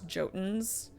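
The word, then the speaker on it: Jotun: Like the Yotens, they pronounce Jotens. Every time I hear that in game, it does great against my brain a little bit.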